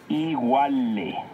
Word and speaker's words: iguale: iguale, Recuerda que en el náhuatl las palabras se acentúan en la penúltima sílaba.